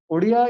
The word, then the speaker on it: Odia: So Odia is the kind of pronunciation which is found in the local language, sir.